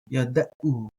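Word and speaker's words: יָדְעוּ: Then we have ki, yad, yada'u. So ki, yada'u. Ki, yada'u. Again, I like the there for the ayin. Yada'u. Ki, yada'u. Ki, yada'u. Others will pronounce that a little bit different.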